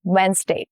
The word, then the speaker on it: Wednesday: Wednesday. Over time, the middle consonants got swallowed up in fast speech, and that is why we lost D, the sound of D.